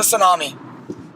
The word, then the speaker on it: tsunami: just a Senna Nami I know the T is silent no I just anomaly yeah it's a tsunami okay okay question what